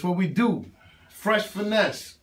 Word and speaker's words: Pfresh: Pfresh, Pfinesse, Mahone with the P. The P is silent.